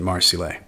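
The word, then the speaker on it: Marsile: marcile is different from the spelling of the French city of Marseille so I'm pronouncing it marcile and while he's there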